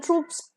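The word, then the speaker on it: troop: stadium the next word Paris ट्रूप दोनों का pronunciation same है टी R double OP ट्रूप is basically a company of soldiers for example 20000 ट्रूप्स were diploid on द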